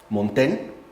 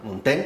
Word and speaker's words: Montaigne: Muchos se han basado en el libro, por ejemplo, de Eclesiastés, Montaigne, creo que se pronuncia, ¿no? Montaigne, por ejemplo, sería uno, Lord Byron sería otro,